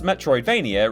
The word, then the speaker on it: Metroidvania: Plus, Metroidvania rhymes with WrestleMania, making it very useful for the annual TripleJump vs Cultaholic beat poem battle.